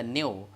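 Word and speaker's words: ν: called frequency frequencies layer represented by Nu we pronounce it as a new and new is equal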